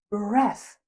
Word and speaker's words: breath: Last but not least, the noun is breath. Breath. Breath like death. It has the same f sound.